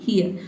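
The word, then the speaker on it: hear: और यहां पे जो आर लेटर है ये भी साइलेंट रहेगा। क्यों? क्योंकि आर से पहले देखिए ए लेटर आया है। ए क्या है आपका? वोवेल है। इसलिए हम यहां पे इसको क्या पढ़ेंगे? ईयर। ठीक है? हियर। ठीक है? हियर। आप आर को साइलेंट रखेंगे तो आप सही-सही प्रोनाउंस करेंगे।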